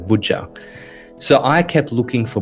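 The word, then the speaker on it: Boja: They actually instead of a J had made it a G. Bua instead of Buja.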